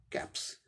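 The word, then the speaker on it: caps: सी का क साउंड आएगा, ए का ए, पी का प, कैप, इसमें लास्ट यस का स, कैप्स। कैप singular, plural कैप्स।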